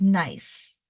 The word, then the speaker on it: gneiss: NE I SS but it's pronounced nice okay so the g is silent G NE I SS